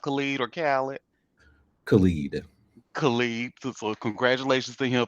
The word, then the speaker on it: Khalid: Is it pronounced Khalid or Khaled? Khalid.